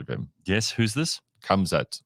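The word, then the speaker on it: Khamzat: So K-A, sorry, K-H, okay, A-M, Z-A-T, Kamzat.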